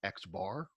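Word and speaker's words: x̄: that we will often use for it is X bar X with a little bar on top of it it really is technically pronounced X bar as a symbol but that X bar is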